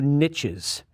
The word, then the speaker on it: niche: by ecologists for their ability to create new niches yes it's pronounced Niche my Millennial friends out there ornithologist